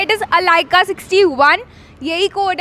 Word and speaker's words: Allica: ऑफ my name, क्योंकि बहुत लोग उसको गलत प्रोनाउंस करते हैं। इट इज़ अलाइका 61, यही कोड है, आप यहीं आके बोलेंगे।